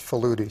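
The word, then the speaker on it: Faludi: by uh i guess her name is pronounced falooti susan falooti backlash the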